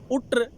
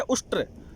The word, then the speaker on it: उष्ट्र: ये शब्द निकल पड़े, उट्र उट्र। संस्कृत शब्द है उष्ट्र, लेकिन उसका उन्होंने गलत उच्चारण किया, उट्र उट्र।